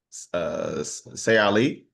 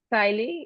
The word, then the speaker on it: Saili: So now we're gonna go down to Say Ali. Is that how you pronounce it? Siley, yeah, just like smiley, you say Siley.